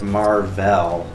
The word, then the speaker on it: Mar-Vell: Is the original Captain Marvel, not Carol Danvers, but Mar-Vell. Mm-hmm. That's lame. Who is I a Kree. Mar-Vell. Well, because all the Krees, like their names sound like two syllables.